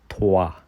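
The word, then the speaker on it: trois: द 3 को आप बोलेंगे थवा वा थवा।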